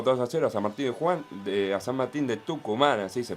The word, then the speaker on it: San Martín de Tucumán: Boca le ganó 2-0 a San Martín a San Martín de Tucumán, así se pronuncia, querido Agustín Primi.